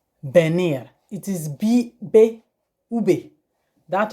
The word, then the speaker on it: venir: Venir, you spelled venir, but in pronunciation it is venir.